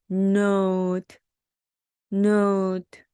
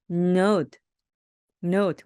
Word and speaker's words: note: 이때 O를 오우처럼 발음해 주시면 되고요. N은 니은, 니은 발음. 그렇죠. 그리고 끝에 오는 트는 티읕 발음. 트는 티읕 발음. 어떻게 되죠? note, note. 그래서 note, note.